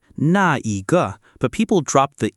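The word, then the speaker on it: 那: By the way, in full form, it's na, but people drop the e in daily speech. And when nah comes before a measure word, it's often pronounced nay.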